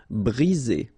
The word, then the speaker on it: briser: 1 vowel, 2 vowels, and only 1 S between the 2, so you get the sound Z. Briser.